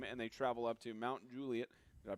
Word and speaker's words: Mount Juliet: always put the emphasis on the et. You always say Mount Juliet. It's Mount Juliet.